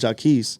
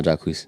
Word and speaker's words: Jacquees: I always thought it was Jacquees. Nah, Jacquees.